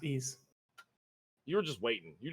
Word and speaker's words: Ys: It's Ease, by the way. It's pronounced Ease.